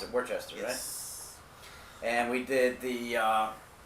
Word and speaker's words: Worcester: room there we went to live-action escapes in Worchester all right to be yes that's how you pronounce it for Chester yes and we did the Robin Hood dungeon